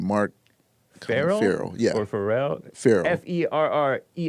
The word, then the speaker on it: Farrell: You said Farrell? Like Colin Farrell. Okay. Yeah, that it's spelled the same way.